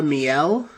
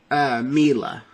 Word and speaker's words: Miele: toxic work culture um this was laura miele uh or no sorry i actually did look up how to pronounce her name it's laura mila that's what um laura